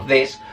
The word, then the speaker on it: desu: desu en ningún momento, he dicho todo el rato des porque aunque se escribe de su normalmente en japonés las palabras que terminan en su prácticamente todas no se pronuncia la u final.